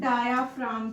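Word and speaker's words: diaphragm: जो rib muscles है ना, इनके नीचे एक थिक मस्क्यूलर स्ट्रक्चर होता है, जिसे हम डायाफ्राम कहते हैं. इसके अंदर जो जी है दैट इज साइलेंट.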